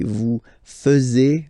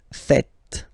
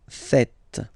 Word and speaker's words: faites: and tend to say vous faisiez. Okay, but then no. It's vous faites. Vous faites. Okay, so remember, final S here is not pronounced, and then this is not pronounced either.